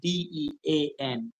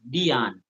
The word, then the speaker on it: Dean: And Dean is Dean. I Yeah. continue to spell these name, guys, because from time to time I realize that persons pronounce Dean as Dion.